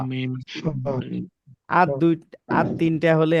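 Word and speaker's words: م: ওয়াও, ওয়াও, ওয়াও, ওয়াও, বা, বা, বা, বা, বা, বা, মিম, মিম, বা, মিম, মিম, তাহলে ওয়াও, ও, ওয়াও, বা, বা, বা, বা, মিম, মিম, মিম, জি।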